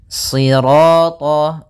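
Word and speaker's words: صراط: Kemudian pada lafal sirat ya kembali lagi di sini shadnya tebal jangan dibaca dengan huruf sin.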